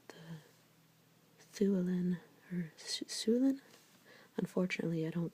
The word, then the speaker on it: Llewellyn: Unfortunately, I don't speak Welsh, so I can't pronounce that first L right there. It has kind of a harsh S sound, like Llewellyn, but I can't say it. Anyways, it's not a L sound.